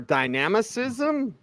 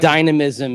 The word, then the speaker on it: dynamism: and you'll have more dynamicism I think I got that right from the rning back position uh D Dynam dynamism Dynam dynamism is I think what you'd prefer yeah you there was a Superfluous syllable in there that made it kind of awkward right right I'm kind